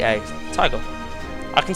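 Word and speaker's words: Taiga: at all it's tiger man that's it was it's spelled on the wiki t a i g a tiger I can say it it's amazing anyway uh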